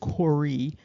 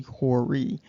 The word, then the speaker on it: Hori: However, when you look at what's supposed to be the phonetic pronunciation, it's Hori. And so that also adds to the confusion because it's really Hori.